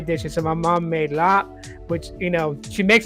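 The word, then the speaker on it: larb: So my mom made lap, which, you know, she makes it the traditional way. So if you go to a Thai restaurant and you order lap, it's L-A-R-B, but it's pronounced lap.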